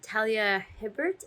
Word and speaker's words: Talia Hibbert: But I'm really impressed with, I think it's Talia Hibbert is how you say the author's name, with her ability to balance that with steamy as fuck scenes.